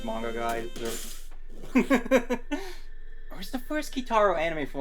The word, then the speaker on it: Kitaro: uh kotaro uh you're gonna have to spell it for me okay yeah k-i-t-a-r-o okay Kitaro I wasn't sure if it was